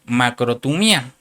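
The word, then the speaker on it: μακροθυμία: Y aquí para la palabra paciencia se una palab se usa se se tradujo de una palabra griega que se escribe o se pronuncia macrotumía y quiere decir aguante, soporte, paciencia o clemencia.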